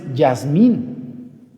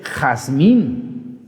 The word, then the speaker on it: Jazmín: Jazmín no es Yasmín, es Jazmín, la J.